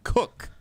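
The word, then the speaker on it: Koch: I had a friend in college with the last name Cook. That's how he pronounced it. Well, she. She pronounced it. Yes. So that one can be a Greg little... Cook, Packers offensive lineman. That one can be a little tough for people. K-O-C-H.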